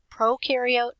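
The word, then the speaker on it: prokaryote: procaryotes um and just reminder Pro carot Pro rhymes with no they have no nucleus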